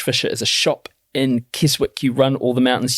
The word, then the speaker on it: Keswick: is a shop in Keswick, you run all the mountains. Sorry, Matt. I have to say this. It's Keswick. Oh. Yeah. Carry on. But it's spelled Keswick. Yeah, I know. But it's Keswick. Sorry.